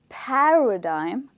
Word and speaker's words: paradigm: The stressed part is the first part of the word, which is pa, okay? So you say paradigm, So when you say